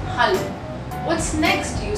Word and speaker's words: Hallo: We use A in German and not E. So in German, the pronunciation of A is like A. So we have to say hallo and not hello or hello.